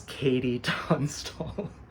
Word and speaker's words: KT Tunstall: So in spite of the spelling, it is Katie Tunstall.